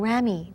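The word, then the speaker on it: ramie: Thirdly, we also have something called rami. That tends to be maybe higher end sometimes. It's spelled R-A-M-I-E.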